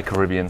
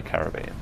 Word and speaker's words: Caribbean: Some people say Caribbean, some people say Caribbean.